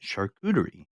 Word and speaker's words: charcuterie: of this this is how you say it charcuterie um Google this Mike yes and it will